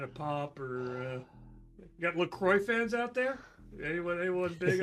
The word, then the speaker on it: LaCroix: Actually, if you go to their website, Marin will say, it says that they want it to be pronounced LaCroix because See?